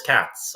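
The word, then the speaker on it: Kac: I I think I I pronounced his name as Kats probably you know like two dozen times but you have you have taught me that k a c apparently equals Kats um, which is quite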